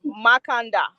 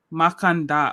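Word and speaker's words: Mackandal: So asking Makando. I don't know if I'm saying that right, but Makanda. Makanda. Okay, so the L is silent. Yeah. Gotcha. So Wakanda, but with the M, kind of.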